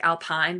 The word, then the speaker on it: Alpine: Alpine spelled like Alpine but pronounced Alpine because they are French.